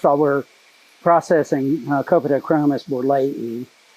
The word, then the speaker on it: borleyi: all, we're processing Copadichromis borleyi. Notice that I pronounced that terminal I as long E. That's the correct Latin pronunciation for Latin endings.